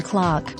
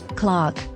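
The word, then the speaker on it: clerk: note the pronunciation Sergeant you have the same vowel sound in Clark Clark Derby Derby Berkshire Berkshire pretend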